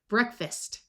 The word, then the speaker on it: breakfast: The second most common sound for EA is the short E sound, like in bread, breakfast. Notice that this A schwas and sounds more like a short U or a short I.